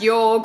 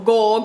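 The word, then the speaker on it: Jorg: Now, in Prince of Thorns, we follow a young Prince George Ancraft. I say George, it's spelled J-O-R-G. It's probably pronounced Yorg or Gorg or something fucking ridiculous, but for my sake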